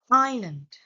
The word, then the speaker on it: island: And be careful with some silent letter, as in island, the silent S, answer with the silent W.